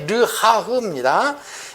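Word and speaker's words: רוח: 그래서 이 구원은 말씀에 근거해서 우리가 수긍함으로 바람처럼, 이 발음이 르하흐입니다.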